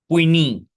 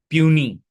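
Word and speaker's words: puisne: फिर इसके बाद में इसको इंपॉर्टेंट मार्क कर लीजिएगा, इसका प्रोनाउंसिएशन जो है वो बहुत ही अजीब लगता है। पुइनी, पुइनी, प्यूनी, प्यूनी मॉर्गेज।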